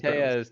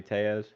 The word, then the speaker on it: Tellez: I mean, Mm, if he's Latin, then surely because the double L is a Y, no?